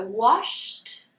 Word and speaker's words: washed: So, when we pronounce the ending of the verb as an unvoiced sound, we're going to put it in the past with a t sound, okay? So, washed, wash becomes washed.